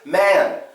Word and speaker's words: man: It's not just man, it's man, man. It's M-A, schwa sound, N.